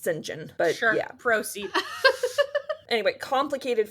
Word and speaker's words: St John: went into like tangents about whether or not singen is totally gay which my professor advocated he was that's how his name is pronounced by the way it's written down as St John it's pronounced singen but sure proceed anyway complicated feelings about the